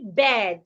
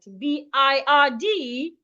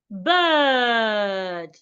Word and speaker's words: bird: So we should not say bad. B I R D is not pronounced bad. It should be pronounced. But please pay attention to my mouth. I believe everyone can see my mouth clearly. Bird. So B I R D should not be pronounced bed. Please pronounce it as bird.